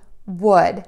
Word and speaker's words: would: Keep in mind, we are not going to say the letter L that is in these three words.